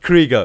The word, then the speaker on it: Krieger: then interrupted yeah sadly dr. Krueger yeah Krieger Wrigley's don't mispronounce his name Sorry Sorry oh yeah by the way for those people who don't know what dr.